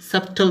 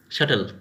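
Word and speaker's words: subtle: আবার ধরো এটা এটা বলি শাটল, এখানে আমরা সাবটল বলবো না, শাটল।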